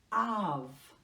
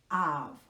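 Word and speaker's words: אָב: And with a dash under the A, it is pronounced Av. Av. Without that dot, in the middle of B. It is Av.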